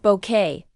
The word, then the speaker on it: Bucket: and the birth of Hyasin Bucket, its pronounced bouquet.